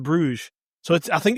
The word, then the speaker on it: Bruges: Brugge instead of Bruges.